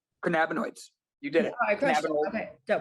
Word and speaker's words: cannabinoids: say that anyways um we're gonna break this down into phonetic syllables can can nabonoids cannabinoids you did it all